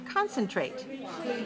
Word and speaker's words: concentrate: next word is concentrate how many syllables do we have in concentrate three good where's the stress one right concentrate also a verb